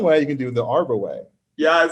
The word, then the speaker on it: Arbouet: do people say arbuette people say arbor wet arbor way arbor way is the most common pronunciation of and i don't mind it